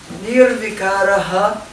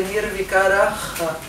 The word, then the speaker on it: Nirvikaraha: Nirvikaraha. Então, esse ponto embaixo do H significa Nirvikaraha. Certo? Não é Nirvikara.